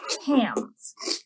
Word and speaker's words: cam: become what are called cams in our automaton. That's spelled C-A-M. Not like can, like what food we're coming. So we've got our little handle and our circles.